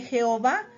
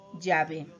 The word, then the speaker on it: Yahvé: Ahora bien, cuando los estudiosos se dieron cuenta de que Jehová era un error como resultado del desconocimiento de la auténtica pronunciación del nombre personal de Dios Yahvé, optaron por poner en